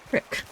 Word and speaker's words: creek: really amusing be because he's pronouncing Creek as Crick and that is very much a western Pennsylvania thing so I don't think